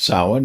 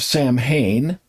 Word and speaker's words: Samhain: he was going to talk about Sin and he said, "Yes, the old Celtic holiday of Sam Hayne." And I quit watching the show because of that, because of the misprononunciation.